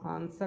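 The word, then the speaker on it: answer: तो आंसर हम लोग जो पढ़ते हैं तो यहां पर डब्ल्यू साइलेंट होता है।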